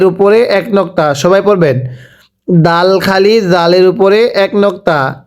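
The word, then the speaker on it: دال: এরপরে হরফের নাম দাল। এই দালটাও শক্ত করে উচ্চারণ করতে হবে, জাল।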